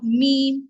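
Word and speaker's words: ميم: articulated or how the meme is pronounced what is the Mah of the mem so the M of mem is lip as well as the sound flows through the nose so this image gives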